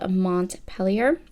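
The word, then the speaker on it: Montpelier: Madison's house in uh it's called Mont pelier that's how he pronounced it I feel like it should be more French and the AR should be silent but I guess not anyway so I am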